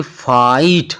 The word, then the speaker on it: fight: तो अब देखो FIGHT, फाइट। अब देखो F के बाद I है, उसके बाद GHT है, तो इसलिए फाइट। यहाँ पर देखो ना, G और H की कोई प्रोनाउंसिएशन नहीं हो रही है।